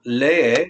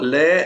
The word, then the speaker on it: lee: So el niñito lee el libro muy bien. Notice when I'm pronouncing lee, I pronounce both vowels. That's a 2-syllable word, and I'm putting the